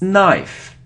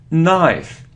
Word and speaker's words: knife: angel okay so next it isn't knife on if it's knife knife so we don't pronounce K so don't pronounce K if there is so this letter n after it's a knife knife like no no okay so you